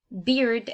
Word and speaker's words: beard: So it is spelled B-E-A-R-D, but the correct way to pronounce it is B-I-E-R-D. So beard. It is important to make the D sound at the end so we can difference